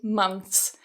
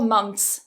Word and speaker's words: months: months months months months so what you can do with this similar to sixth is cut the th so some natives when they're speaking quite quickly they may say months I'm staying there for four months for example I'm staying there for four months I'm staying there for four months so cut that th it's a lot easier in Rapid speech so feel free to do that as well but if